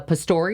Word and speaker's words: Pastore: was only like two little squids and Vincent Pastore mm-hmm that's how you pronounce his last name story Vincent was so